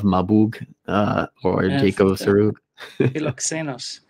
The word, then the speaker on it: Philoxenos: Philoxenos. Philoxenos. I would think I was saying like Philoxenus or something.